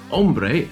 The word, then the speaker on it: hombre: Turns out, hombre, man, is with a silent H, and this means shades of leather.